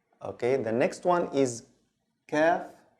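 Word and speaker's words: ك: Okay, the next one is kaf. Kaf, like the English K. Or kaf, kaf. This is the normal K sound, but there's something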